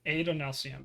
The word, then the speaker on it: Adonalcium: I wasn't gonna say because I can't pronounce it. So That one's at not super spoilery. Adolnasium or Adonalcium. Adonalcium.